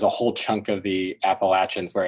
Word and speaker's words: Appalachia: whisper like a warning it's Appalachia it rhymes with comeback ATA the way Yates rhymes with hates not Heats Appalachia doesn't rhyme with euthanasia anymore than uriy rhymes with cowardice say it with me